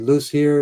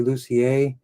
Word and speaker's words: Lucier: It's usually said Lucier. It's actually Lucier. It's not pronounced like it's spelled, which is typical for French, which is a beautiful language.